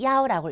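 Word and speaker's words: 幺: 우리가 버스 노선에 속한 숫자 0도, 0, 1도, 야오라고 읽어요. 401번 어떻게 얘기한대요?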